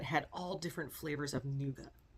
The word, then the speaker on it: nougat: There was even a stand that had all different flavors of nouga. N O U G- A T. Nouga. I don't know. Nougat, as how we Americans say it.